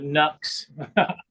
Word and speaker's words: Nux: I have a Nux tape core. Some people call it Nuke. I think they pronounce it.